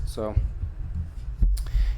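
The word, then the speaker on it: Tso: do with clothes no it's pronounced so TS o so oh then we're talking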